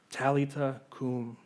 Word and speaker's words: Talitha cum: Verse 41, it says, he took her by the hand and he said to her, Talitha cum.